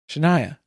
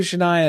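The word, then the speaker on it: Shinia: S H I N I A Shania. Yeah, that's literally It's like phonetically how you would spell that out, I guess.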